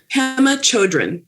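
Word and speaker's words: Pema Chödrön: It's called When Things Fall Apart, Heart Advice for Difficult Times by, could you pronounce this person's name? I don't know how to do it. Pema Chodron.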